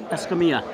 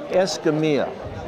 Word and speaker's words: Escamilla: How do I pronounce it correct? Escamilla. Escamilla.